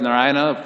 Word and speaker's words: Narayana: situated nearby naraina and because narayana four syllables are there not ryanna so for our lord